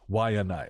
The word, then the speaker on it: Waianae: And I just wanted to say that's how it's pronounced. Waianae, like Bill Nye.